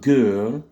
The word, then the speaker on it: girl: Ensuite, le mot girl, girl, la lettre I est prononcée E, donc girl, girl.